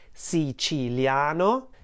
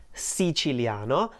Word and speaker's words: Siciliano: in actuality is pronounced si chileano si chileano and also this word which in the song is pronounced as if it had five syllables no should be pronounced with four syllables and the same exact